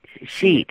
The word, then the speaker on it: Sheit: it's okay okay Mr sheet sheet is that right it's like it's kind of like two syllables like she okay okay it's long a long sound okay and is there